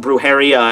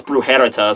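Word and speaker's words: Brujería: I already butchered the Spanish last time by pronouncing Brujeria as Brujerita, so whatever the fuck, I don't even know.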